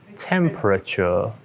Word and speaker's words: temperature: only three temporature right it may help to imagine that the second e isn't there temperature let's try a few